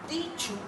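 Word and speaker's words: teacher: इसका टीचू, टीचू. अब आर आ रहा है. आर टीचर में भी हम आर को प्रोनाउंस नहीं करेंगे, पीछे वॉल आ रहा है. टीचू, टीचू, टीचू.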